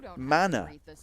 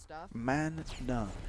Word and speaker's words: mana: Uh The Wikinger As a German, I pronounce it mana. man-na.